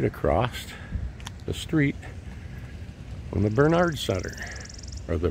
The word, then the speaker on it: Bernhard: Michigan University right across the street from the Bernard Center or the burnhard center proper pronunciation it's built in 1957 I've been in